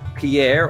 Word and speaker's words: Pierre: yes South Dakota is Pierre or as locals pronounce it Pier um I believe that's